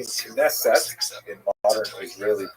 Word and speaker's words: Knesset: The name Knesset in modern Israeli pronunciation is, of course, the deliberating body of